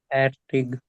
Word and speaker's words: fertig: या आप इसको यहाँ पे जो एयर Fertig. है वो बहुत Fertig. लाइट प्रोनाउंस होता है। सो इनिशियली आप फैटिक भी बोल सकते हो, अदरवाइज फैटिक। फैटिक फैटिक। एयर बहुत ही लाइट रहता है, इट्स नोटिसेबल नहीं रहता इतनी आसानी से।